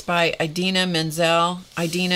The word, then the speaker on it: Idina: Idina is spelled I-D-I-N-A. That may not be how she pronounces it, but that's how I pronounce it.